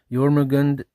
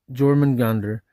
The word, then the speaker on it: Jörmungandr: Modern English, commonly its transliterations, Yormagand Yormagander, Yorman Gander, occasionally Gorman Gander, incorrect but phonetic guesswork.